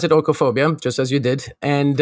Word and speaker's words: oikophobia: pronounce it by the way yeah i would pronounce it orcophobia just as you did and uh orcophobia is